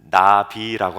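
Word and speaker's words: נביא: 힌트 앞에 다 드렸는데 히브리어로 선지자를 나비라고 합니다 나비 우리 한글말 비하고 발음이 똑같아요 그래서 제가 선지자 세례요한을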